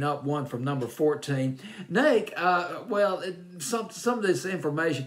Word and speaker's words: Neiked: It's Neiked. It's Neiked. I believe I'll pronounce it as that. I checked out the pronunciation online.